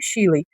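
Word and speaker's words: Shelley: falar o nome da Mas eu tô falando Mary Chile, mas não tá errado, tá? É porque a pronúncia mesmo, né, correta, seria Mary Chiley. Mas eu não vou ficar aqui falando, olha, o certo é Mary Chiley, mas eu tô fazendo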